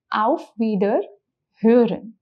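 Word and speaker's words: Wiederhören: out feeder herin okay first thing to Mark here is the pronunciation of O oml that we have learned which is uh so the word becomes AER hearin which means I will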